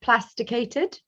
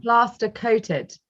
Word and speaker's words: plaster coated: i apologize you've um you've mentioned plasticated yeah pasta coated yeah plaster coated okay good i've said it wrong so do you